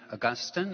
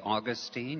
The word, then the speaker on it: Augustine: and this prayer is from saint augustine or saint augustine you can say his name either way and because it's a